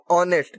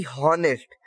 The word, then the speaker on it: honest: और जब साउंड इसका क्या है, जब हम प्रोनाउंस करते हैं तो क्या साउंड होता है, ऑनेस्ट, ना कि हॉनेस्ट। तो जो एच है ये साइलेंट है, साइलेंट है, तो एच हम प्रोनाउंस नहीं कर रहे, ऑनेस्ट प्रोनाउंस कर रहे हैं।